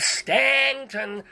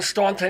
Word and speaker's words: Staunton: off - you'd Lee you put the you in Staunton and you don't pronounce it and you've got my